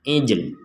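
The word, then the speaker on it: العِجْل: Eh, titik artikulasi huruf lam adalah lidah. Jadi lidah kita masih mengucapkan huruf lam tetapi tidak ada suara yang dihasilkan. Nah, jadi lidah itu apa? Diposisikan seolah-olah, bukan seolah-olah, tetapi kita mengartikulasikan huruf lam tetapi tidak bersuara, ijl.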